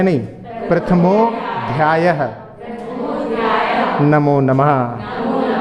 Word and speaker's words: प्रथमोध्यायः: गलती कर जाते हैं, तो प्रथमो अध्याय नहीं बोलना है क्योंकि संधि हुई है, प्रथमोध्याय ऐसे बोलना है नहीं, लेकिन चूंकि अपन जो लिखा है बोलना चाहें तो प्रथमोध्याय इस प्रकार से उच्चारण करेंगे।